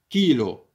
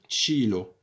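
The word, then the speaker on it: chilo: بالنسبه للنطق ديال لا ليترا تشي، يعني الحرف تشي والحرف اكا، يعني كنقراوه كيلو، ما تنقراوش تشيلو.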